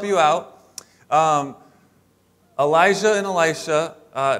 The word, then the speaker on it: Elisha: god is salvation and it's pronounced elisha not alisha like the girl's name but el isha so let's say it